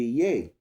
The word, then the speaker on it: yea: So when you say yea, Y-E-A, that's Old English for yeah. You can even pronounce it yeah if you want. You see the only difference is it doesn't have the H.